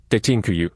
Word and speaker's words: Derinkuyu: Derinkuyu, Turkish pronunciation Derinkuyu, also known as Malakopea,